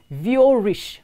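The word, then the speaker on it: vieux riche: u x space r i c h e pronounced v o rich which means old money or old riches and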